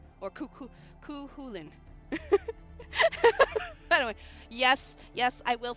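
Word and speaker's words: Cú Chulainn: I was calling him cuckulain. And he's like, "No, it's Lynn. It's Lynn. Cukulin or Cu Khulin."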